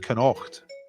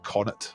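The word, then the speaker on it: Connacht: pronunciation of courage connoct i said cannot it was the provinces ulster munster lightroom and canoct i looked like canon to me and they were going it's like connet or something i actually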